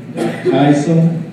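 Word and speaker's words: δικαιοσύνη: Righteousness is dikaiosone, how I pronounce it, D-I-K-A-I-O-S-O-N-E, which is the character of quality of being right or just.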